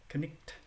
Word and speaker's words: knight: gh in the middle in middle english those consonants letters would have been pronounced so when you see